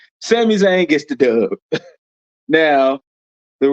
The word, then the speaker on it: Sami Zayn: Sami Zayn gets the dub. I said all of that just to say it wrong. Sami Zayn gets the dub.